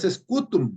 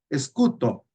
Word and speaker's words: scutum: El escuto, la pronunciación, toda pronunciación latina que ustedes miran aquí, escutum, no es scutum, no se pronuncia scutum, es escuto, escuto.